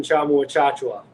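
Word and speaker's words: Tchamwa Tchatchoua: The concern for Baylor now is they have another injury with the starter who lost, and I cannot pronounce his name. Jonathan Chamu-Achachua.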